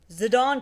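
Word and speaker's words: Zidane: character which is uh zidon tribal yes that's how it's pronounced a lot like the retired French football player zidine zadon it turns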